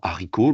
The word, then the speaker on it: haricot: On va mettre les lettres muettes en couleur don haricot, l'enfant il a seulement à souvenir qu'il y a un H et un T à la fin.